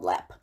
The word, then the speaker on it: Leap: to do is the lep castle lip castle and it's spelled l-e-a-p like leap but it's called lap and we will start